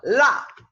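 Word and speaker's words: 辣: Fíjense el sonido de la L. La. Es, cuando lo pronuncias, la punta de la lengua se pega como detrás de los incisivos, ¿sí? Y estos incisivos acá. La. Sí, un poco como la L del inglés, ¿verdad?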